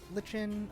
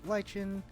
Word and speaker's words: lichen: whoops found some lightroom some people pronounce it lichen other people lichen um originally i think for a while there i actually pronounced it lycan so it was kind of an interesting um homophone to um like a werewolf like lichens like anthro